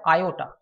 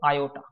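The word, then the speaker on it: iota: হয় ছোট হাতের আই এটাকে বলা হয় আয়োটা আই ও টি এ বাংলায় যদি উচ্চারণ করো সেটা হবে আয়োটা বোঝা যাচ্ছে আই দিয়ে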